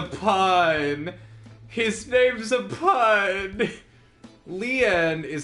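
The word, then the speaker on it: Lien: his name's a pine his name's a pun leon is how it's pronounced but you could also interpret it as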